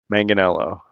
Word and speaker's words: Manganelo: Don't try to say his name with Italian pronunciation. He doesn't. Manganelo.